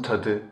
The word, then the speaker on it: tadı: Turkish it is onun tadı çok kötü, onun tadı çok kötü. As you see again, the last T of the word tat changes into D, which is the voiced counterpart of T.